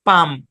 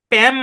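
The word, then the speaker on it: palm: আরেকটা দিতে পারি এরকম পি এল এম উচ্চারণ কি এল টা সাইলেন্ট পাম প্যাম না পাম পাম পাম মানে কি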